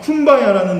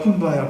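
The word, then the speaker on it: Kumbaya: 근데 이 쿰바야라는 말은요, 원래는 come by here예요. come by here. 이곳으로 오소서라는 건데 흑인식으로 발음하다 보니까 쿰바야 하는 거예요.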